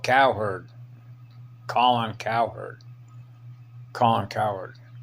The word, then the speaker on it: Cowherd: the show is called Cowherd Colin Cowherd Colin coward Colin c-o-l-n but it's pronounced calling the herd calling her so I